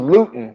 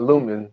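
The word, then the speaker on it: Lewton: And it was Luton. I said it wrong. It's Luton? It's not Lumen.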